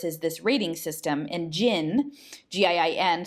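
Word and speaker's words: GIIN: this rating system, and Jinn, G-I-I-N, sort of like genie or Jinn, G-J-I-N-N, but it's G-I-I-N, but it's sort of, you can pronounce it the same way, that this Jinn was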